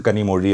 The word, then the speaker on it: Kanimozhi: So, that meri mummy sound is the one that is in Kanimozhi Alappuzha.